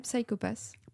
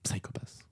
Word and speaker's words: Psycho-Pass: Si, une série que j'aime bien en ce moment, c'est un animé japonais qui s'appelle Psycho-Pass. Psychopath. Ou Psycho-Pass, enfin, vous le prononcez comme vous voulez.